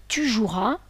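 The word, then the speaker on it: joueras: as ce qui donne tu jouras on ne prononce pas tu joues ea le E doit rester muet j'insiste si l'on a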